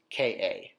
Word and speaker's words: Ka: up into the air, and it's pronounced Ka, Ka.